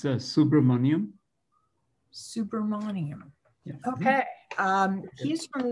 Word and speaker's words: Subramaniam: It's Subramanian.